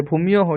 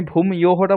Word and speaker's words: भूम्यः: भूम्यः হুম भूम्यः হুম না ঠিক আছে, ভূমিয়োহ ঠিকই বললে। আমি ভূম ইয়োহটা বলতে বললাম, উচ্চারণটা সুবিধা হয়, কিন্তু ওখানে একদম ছেদ শোনালে ওটা আবার খারাপ লাগে, ওটা ভূম ইয়োহ বললে খারাপ লাগে।